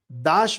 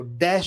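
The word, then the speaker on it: Dash: आशीष कुमार दाश मत पढ़िएगा इसको। डश बोल रहे थे वो लोग।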